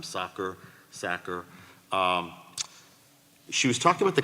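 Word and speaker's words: Sakr: She's written to us before, but I don't want to mispronounce her last name, Sacker.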